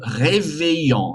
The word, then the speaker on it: réveillon: Pour les rites et les coutumes, le réveillon, réveillon, réveillon, réveillon, nasal sound at the end.